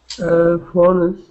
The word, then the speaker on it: phones: Phones. All right. Well, here, this S, or the E, is going to be silent.